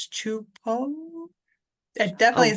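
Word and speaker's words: Csupó: It says That's Chu like Choo and then Poh Chupo. It oh definitely is not how wow. I would read it. That no, how I read it is Supo? supo, yeah. Chupo?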